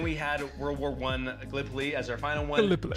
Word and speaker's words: Gallipoli: Game right, because being from Iowa, I said Gallipoli, and it is pronounced Gallipoli.